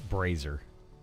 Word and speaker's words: braziers: It's other bras. It's brazer. It's a brazer. You're putting the wrong emphasis on the wrong syllable.